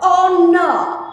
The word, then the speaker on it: honor: Honor. H is silent always.